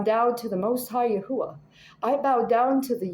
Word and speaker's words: Yahuwah: you I bow down to the most high yahuwah I bow down to the yahuwah to the